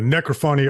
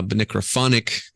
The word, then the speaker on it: necrophonic: you know it's like it's like Symphony uh cacophony uh so I figured Nick crawfordy would be the pronunciation uh necrophonic would be cool too